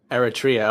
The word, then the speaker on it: Eritrea: to her church area Eritrea okay I had my I had my pronunciation or emphasis on the wrong syllable you have to put